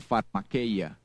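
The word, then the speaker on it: φαρμακεία: Viene de una palabra en griego que se pronuncia pharmakeia y tiene que ver con las personas que abusan de drogas, de sustancias que provocan un estado alterado de conciencia.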